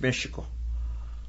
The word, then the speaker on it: Mexico: Yeah, from the Mexicas, the Nahuatl language is actually correctly pronounced as Mexico because the X was pronounced sh, and the Spaniards don't have, in Spanish, there's no sound for sh.